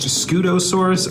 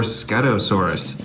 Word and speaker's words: Scutosaurus: the set this is the I think it's pronounced scutosaurus or scutosaurus it's a bright orange dinosaur it looks pretty